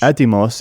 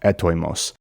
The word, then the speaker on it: Έτοιμος: But this is specifically a modern pronunciation because the ancient Greek teachers would say the word is pronounced etoimos, whereas in modern Greek the oi diphthong is just pronounced e.